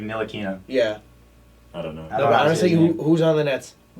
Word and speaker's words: Ntilikina: I think the T is silent. It's like Ntilikina.